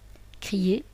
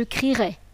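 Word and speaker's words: crierai: à ce qui donne je crirai attention on ne dit pas je crie le E est dit muet on dit je écirit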